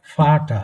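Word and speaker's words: Vater: এখানে দেখেন, এটা হচ্ছে ফাটা, একদম ফয়ের মতন, এফ এর মতন, ফাটা, এই যে ফালেন, ফাটা।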